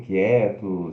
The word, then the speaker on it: quiet: quiet, ó, o som, ele se escreve Q-U-I-E-T, como se fosse quiet, mas se pronuncia o Q, o consonantal, A e curto, quiet, quiet, e curto de novo T, quiet, quiet, tá?